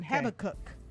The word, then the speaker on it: Habakkuk: It's in Habakkuk. Some people say Habakkuk, and some say Habakkuk.